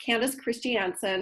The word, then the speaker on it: Candice Christiansen: yes so I am my name is actually pronounced Candace Christiansen and I am the founder